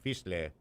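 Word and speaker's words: Fieseler: Fiesler.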